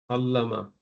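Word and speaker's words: عَلَّمَ: Then you have allama. This is apparently looks like 3 letter, but it has a shadda, meaning there are 2 lams. Okay, the lam is pronounced 2 times.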